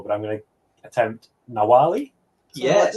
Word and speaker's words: Nawalli: already said this behind the stage, but my pronunciation is terrible. But I'm going to attempt Nawalli.